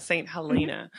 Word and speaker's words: Saint Helena: hell maybe is in the hope of ally how do you say it Saint Saint Helena Halina Saint Helena Wow I don't think I've ever heard of st.